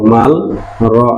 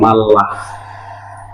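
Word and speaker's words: 말라: যেমন খেয়াল করেন, এখানে উচ্চারণটা হওয়ার কথা ছিল ম আ মা, নিচে ল মাল, র আ রা। হওয়ার কথা ছিল মালরা। বাট রিয়লের পরে যদি রিয়ল থাকে তাহলে কি উচ্চারিত হয়? লয় লয় উচ্চারিত হয়। তাহলে হবে ম আ মা, লয় লয় আকার মাল্লা। তাহলে আমরা এই উচ্চারণটা ভুল, উচ্চারণটা হবে মাল্লা।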